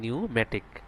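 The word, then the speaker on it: pneumatic: তারপর হচ্ছে এখানে পি এর উচ্চারণটা না আসে, এখানে হবে নিউমেটিক। এরপর এখানে বি এর উচ্চারণ না আসে, এখানে হবে ডাম।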